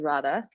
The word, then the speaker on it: Radha: My name is Radha, by the way, for anyone who doesn't know how to pronounce it.